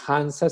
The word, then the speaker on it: Hansa: ruta de la mansa la hansa se escribe h n s hans la ruta de